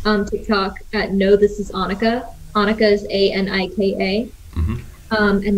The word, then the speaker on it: Anika: But yeah, it's Anika, like Monica.